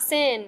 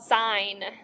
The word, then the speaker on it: sine: ever okay first off this is not sin it's called sine okay so if you